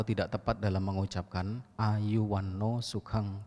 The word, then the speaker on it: sukha: Sukha, tulisannya S-U-K-H-A, artinya kebahagiaan. Lalu ada kata yang mirip, S-U-K-A, dibaca suka, artinya burung kakak tua.